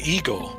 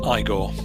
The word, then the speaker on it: Igor: done okay okay michael you must be ego no it's pronounced igor i think ah i i